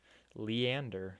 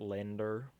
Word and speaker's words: Leander: Leander, not Lander.